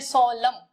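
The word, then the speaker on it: solemn: इसका प्रोनाउंसिएशन है सोलम। एन नहीं बोला जाता है ना, एन जो है इसको बोला नहीं जाता, सोलम बोलते हैं इसको इंग्लिश में।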